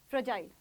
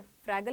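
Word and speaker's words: fragile: ठीक है, फ्रैगल नहीं है ये, मैंने गलती से बोला, फ्रजाइल। फ्रजाइल क्या बोलेंगे? फ्रजाइल। ठीक है, फ्रैगल होता तो फ्रैगल, यहाँ नहीं, गलत हो जाएगा। ठीक है, देयर प्रोनाउंसिएशन इज डिफरेंट, तो हम क्या बोलेंगे?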